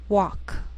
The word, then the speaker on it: walk: she'll it'll wheel veil sometimes L can be silent so you have to be careful the first five words